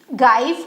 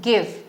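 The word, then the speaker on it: give: तो यहाँ पे मुझे इसको गाइव पढ़ना चाहिए, पर इसे हम पढ़ते हैं, क्या पढ़ते हैं इसे हम पढ़ते हैं गिव।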